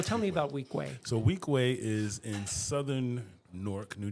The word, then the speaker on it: Weequahic: So it's like my first name, and then the school is Weequahic. Weequahic.